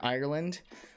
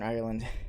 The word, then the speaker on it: Ireland: i would say northern ireland do you get annoyed when americans say ireland instead of ireland like two syllables but